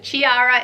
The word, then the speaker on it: Chiara: on my list it's the name Chiara spelled CH IA ra but yes you don't we run some Chiara it's pronounced Chiara and I love hi